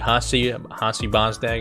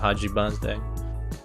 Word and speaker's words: Haji Bozdag: As it was at the beginning, I was saying Hasi Bozdag instead of Haji Bozdag.